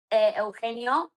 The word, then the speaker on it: Eugenio: Eugenio is like Eugenio, so EU, yeah, Genio, and then the last name is Lizama, so Lizama.